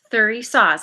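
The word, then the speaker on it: Thurisaz: oh okay we've got probably not saying it right theory saws wearing a mask because of all the toxicity most of us are familiar with this concept there we go three saws i said it right excellent this rune represents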